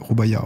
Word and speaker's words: Rubaiyat: Prononce pas le T. Rubaiyat, ok.